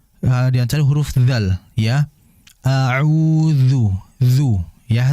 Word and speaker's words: أعوذ: A'udzu, dzu ya, hati-hati dalam mengucapkan dzu, jangan seperti du ya, du, jangan dzu. Jadi huruf dzal ini, dia ini cara pengucapannya ujung lidah diapit ya, jangan digigit, diapit oleh ujung gigi seri atas. Dzu, dzu. Jadi akan berbeda dengan du.